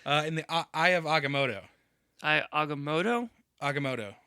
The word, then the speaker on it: Agamotto: on mumu's nerves uh in the eye of agamotto aoto agamotto not motto not motto agamotto not Motu I think is what you were saying was